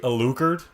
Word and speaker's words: Alucard: Shouldn't it be Alucard? Because you put the emphasis at the first syllable, not on the The on the last.